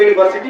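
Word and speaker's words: university: pronunciation के अनुसार इसको यूनिवर्सिटी पढ़ा जाता है, इसलिए इसका पहला उच्चारण आया या, इसलिए यहाँ पर ए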